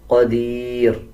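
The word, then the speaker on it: قدير: क़ाफ को पुर यानी मोटा पढ़ा जाएगा। क़दीर जब वक़फ़ करेंगे नून को और नून के नीचे जो ज़ेर है इस छोटे नून को साइलेंट कर दिया जाएगा और रा को बारीक पढ़ा जाएगा।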